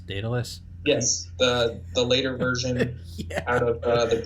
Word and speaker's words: Daedalus: ever heard a project I don't I to pronounce it dadelus Daedalus yes the the later version interplanetary Society yet